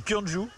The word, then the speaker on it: Gyeongju: En fait, c'est pas compliqué, ça se dit Kyonju. Il faut juste éviter de vouloir prononcer toutes les lettres.